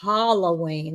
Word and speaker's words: Halloween: You say Halloween like it's hollow.